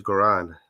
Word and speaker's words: Goran: is it is it how do you pronounce it bro it's garand that's right you can say though